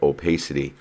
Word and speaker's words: opacity: here is opacity and that's how you pronounce that it's called opacity and that's basically a